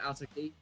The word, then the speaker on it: Alto Key: uses the name Alto Key. It's 3 syllables, so it tends to be quite easy to remember and say.